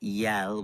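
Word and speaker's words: iel: So they created the pronoun yell, which is spelled I E L. And it's basically a combination of ill and l.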